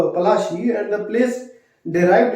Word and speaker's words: Palashi: Plassey is an anglicised pronunciation of Palashi, and the place derived